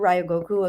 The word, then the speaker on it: Ryogoku: So I want to move into what the work you're doing right now through Ryogoku Academy.